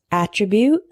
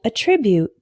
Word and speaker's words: attribute: is attribute and attribute attribute is a noun meaning a characteristic of something for example his intelligence is one of his best attributes attribute is a verb meaning to give credit for something for example this famous saying is attributed to Benjamin Franklin attribute attribute our next hetero name is